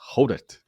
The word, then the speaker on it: Hodert: Yeah, because it rhymes with no dirt. It's Hodert.